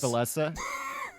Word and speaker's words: Villese: same player different ways oh it's valessa it's supposed to be pronounced valessa okay well it's okay